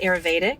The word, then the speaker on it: Ayurvedic: maybe you know how to say it ayurvedic ayurvedic yes the ayurvedic doshas that there are three